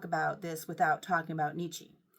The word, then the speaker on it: Nietzsche: You can't talk about this without talking about Nietzsche. Nietzsche, Nietzsche, I think I said it wrong the first time. Nietzsche.